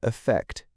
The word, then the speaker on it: affect: Both are stressed on the second syllable, but the first syllable in affect with an A is pronounced with a schwa sound, that very lazy sound that takes little effort to make. Affect. The first syllable in effect, spelt with an E, is often pronounced with an E sound. Effect. Effect. But you'll also hear people use a schwa, so they could sound the same, affect and effect.